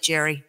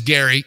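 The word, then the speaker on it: Gerry: his name you know it's spelled like Jerry but it's yeah it is Gary and I don't watch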